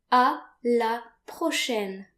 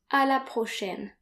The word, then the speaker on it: à la prochaine: So repeat, à la prochaine. À la prochaine. So note here that A and I are pronounced like AI in the English word said.